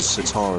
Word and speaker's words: sitar: The sitar guy. Is that how it's pronounced? Is it sitar or sitar? Yeah, it's Sitar. You had it right.